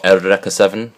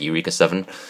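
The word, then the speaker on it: Eureka Seven: um then we have Eureka 7 part one and two um or era 7 however you want to pronounce it I pronounce it Eureka 7 uh these are the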